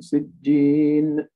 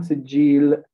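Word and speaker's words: سجين: All right, just make sure you pronounce it with a noon. Sijjin, sijjin, without qalqala, right? Don't say sijjin. وَمَا أَدْرَاكَ مَا سِجِّينَ. Sijjin, sijjin. Okay, not sijjil.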